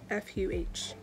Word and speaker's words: pho: i did look up how to say it properly i've always said it properly supposedly it's f u h but it's spelled p-h-o so i don't know